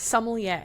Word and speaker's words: sommelier: It's sommelier. Ugh. I looked it up and I made Google tell me how to pronounce it. Sommelier. I think it's French though, so it's spelt weird.